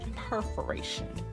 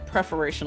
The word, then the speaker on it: perforation: I think it's pronounced perforation. I keep saying perforation like P-R-E, but I think it's actually P-E-R.